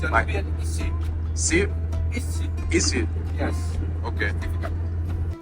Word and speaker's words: Isi: Nubian, Isi.